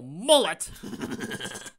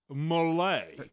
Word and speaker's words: Mullet: Like I'm gonna take advice from Marshal Mullet. It's pronounced Malay.